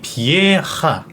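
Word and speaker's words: Patrick Vieira: 리에라 아 그럼 비에 우리나라에서는 비에이라 하는데 약간 현재에서는 발음이 좀 들어가네요 그렇죠 그리고 비에이라가 아니라 파트릭 비에하 비에 비에하입니다음 위에 이하가 아니라 에하 비에하 파트릭 에하 파트릭 혹은 뭐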